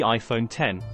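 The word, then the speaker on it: iPhone X: with the release of the iPhone 10 pronounced 10.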